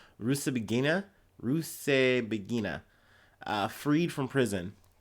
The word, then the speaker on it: Rusesabagina: Oh my gosh, I went through the trouble trying to pronounce this correctly. Rusesabagina, freed from prison. Rusesabagina was serving a 25-year sentence in Rwanda on terrorism charges, but was freed on Friday, U.S.